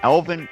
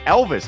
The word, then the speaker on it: Elvis: it was a freshman, Elvin Koutsakis, 377 yards. Elvis, I should say. Don't get that name wrong.